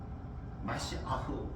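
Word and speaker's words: מָשִׁיחַ: 메시아는 영어식 발음이고 히브리어 발음은 마시아흐.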